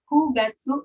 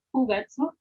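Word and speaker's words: 九月: Kugatsu. Bukan Q ya. Kalau bulan dibacanya ku. Kugatsu.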